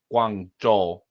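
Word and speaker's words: Guangzhou: is literally no but they say it like Guang Jo but literally the exact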